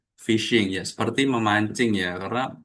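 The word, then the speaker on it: phishing: Di sini tulisannya kayak fishing tapi bacanya adalah fishing ya.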